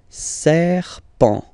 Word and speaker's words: serpent: Here, the next one, final T, not pronounced, and then you get this EN, okay, nasal as well, so it's en, en, alright, and then serpent, serpent, serpent, un serpent, un serpent.